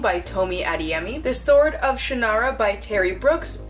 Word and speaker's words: Shannara: tme the Sword of Shannara by Terry Brooks which is actually supposed to be pronounced Shannara but even Terry Brooks realize that that sounds kind of ridiculous Carnivale by Stephenie Garber